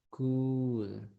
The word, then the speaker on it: could: And the pronunciation could. Es como que tuvieran una K, una U y una D. Could.